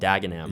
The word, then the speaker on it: Dagenham: And you got eaten alive in the comments which is telling you to pronounce it right. And it's called Dagenham, right?